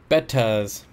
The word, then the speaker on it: betta: Pronounced bettas.